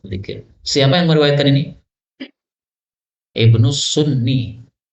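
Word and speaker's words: ابن السني: Ibnu Sunni. Karena dulu saya masih kecil bacanya Ibnu Sina. Salah ya. Kalau Sina itu tidak pakai ya gini, tapi pakai alif. Sina. Kalau pakai ya, ini Sunni.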